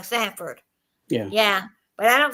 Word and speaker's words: Sanford: Oh, Sanford. Okay. Sanford. I I'm pronouncing it wrong. Sanford.